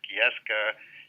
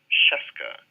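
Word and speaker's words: Scieszka: all but it is Cheska and it pretty much rhymes with fresca so now I always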